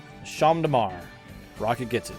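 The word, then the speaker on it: Champ de Mars: the main ceremony of the federation held sham damar rocket gets it it's champs c-h-a-m-p-s damar so it'd be spelled like this but rocket gets it and rocket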